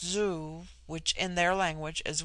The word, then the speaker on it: zu: On the other hand, z, when an initial, is with them a sound in which the breath is sucked inward, and thus zu, pronounced zoo, which in their language